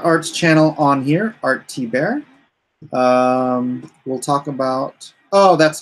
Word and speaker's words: Thibert: bear it is art Hebert th IB ERT is just pronounced T bear so I like to